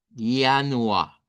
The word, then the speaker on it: Januar: En idioma doch lo vamos a decir con, así como ya. Yanua es el primer mes.